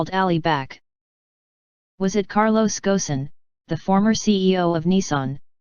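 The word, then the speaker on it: Ghosn: nissan mitsubishi and renault carlos gosan the arabic pronunciation is gassan had homes in rio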